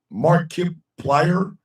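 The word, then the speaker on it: Markiplier: Mark Wheeler is pronounced Mark Kip. Mark Kiplier.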